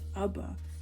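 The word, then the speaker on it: אבא: These are both very much appropriate, and they both sound the same, and understand that this is pronounced Abba and not Abaha.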